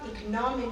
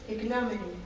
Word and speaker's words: ignominy: friend okay so it's the pronunciation is not economic it's ignominy oh slider so there you